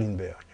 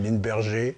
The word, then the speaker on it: Lindbergh: Charles Linberg. Personne aux États-Unis ou dans le monde ne pourrait prononcer correctement son nom le 21 mai 1927. On l'appelle Line Berger dans la presse.